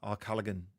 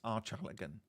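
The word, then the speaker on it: Archallagan: other day with uh Arullagan Arullan Plantation. Um, and someone was saying it's pronounced like the beginning of your name because my surname is Archer and they're like it's Archalagan.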